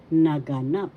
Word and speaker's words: naganap: this or because halimbawa naganap naganap happen in the past. First syllable na. Second syllable ga. Third syllable na. Naganap. The third syllable has the action.